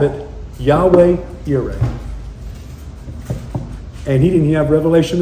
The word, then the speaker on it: Yahweh: Well, the Jehovah Gyra, it sings so good because of the J J. It sings so good. But that's not his name. It's Yahweh Y.